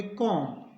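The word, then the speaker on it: comb: है इसको पढ़ेंगे बम सीओ एम बी एम बी है तो बी साइलेंट होगा तो इसको पढ़ेंगे कोम टी एच यू एम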